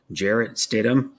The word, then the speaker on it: Jarrett Stidham: there's how do you say that his name Jarrett Stidham yeah I'm watching the game too we got